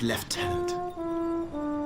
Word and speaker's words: lieutenant: I, Vansson Constantine, have assumed command and have designated Tomar Flegov as left tenant. Why is lieutenant pronounced left tenant if you're French?